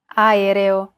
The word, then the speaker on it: aereo: Even when there are 2 or more vowels in a row, just pronounce them separately. Aereo.